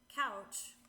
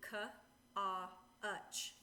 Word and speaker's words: couch: If you were sounding this out phonetically, it would be ka-a-uch, kutch, which ka-a-uch is not how we pronounce the word, and therefore this would be rule number 3, and that makes an ow sound.